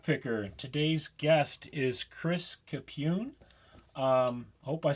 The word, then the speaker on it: Capune: with a lock picker today's guest is Chris capune um I hope I said that right say